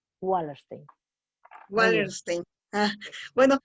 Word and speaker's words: Wallerstein: Pero si es anglosajón, es wa. La W se pronuncia Wallerstein.